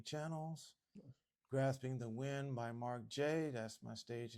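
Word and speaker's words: Marc Jaye: Grasping the Wind by Mark J. That's my stage name. Um, and it's spelled M A R C J A Y E.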